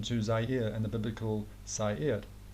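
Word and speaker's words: Seir: Zaire and the biblical Sair. But in the Bible it's spelled S-E-I-R, but this pronunciation is very similar to Zaire.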